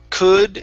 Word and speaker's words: could: them back okay so instead of saying and pu it's going to be an uh sound could and so it's the same vowel sound could so he could put